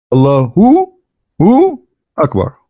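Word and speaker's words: الله أكبر: So when a Muslim, he says Allah, you notice he pronounced something. He say Hu Akbar, correct? Hu Akbar. But when they say it, but they don't write it. Hu Akbar. Allahu Akbar.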